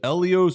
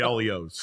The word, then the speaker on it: Elio's: First of all, the correct Italian pronunciation of the letter E is eh. Mm-hmm. The letter I is E. Mm-hmm. In Italian. I get it. Same as in Spanish.